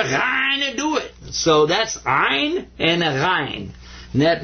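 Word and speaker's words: عين: And this guy's name is Ein. In ein, you kind of squeeze the back of your throat when you pronounce this one.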